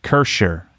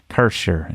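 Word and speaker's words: Kärcher: I need to work on the German pronunciation. Kircher. Anyway, it's not. There's no ch. It's like Kircher. Kircher is how I think it's pronounced.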